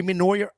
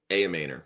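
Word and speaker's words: Ayomanor: Uh a a Noryer. How do you say it? A manor.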